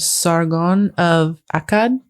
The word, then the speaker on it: Sargon of Akkad: The first, and I was instructed on how to pronounce this, was someone named Sargon of Akkad.